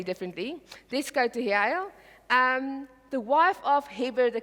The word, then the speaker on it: Jael: But Sisera fled away on the foot to the tent of Jael. Here comes my hero, or Jael. There's different pronunciations. I Google that, pronunciations of, and they will say differently. Let's go to Jael.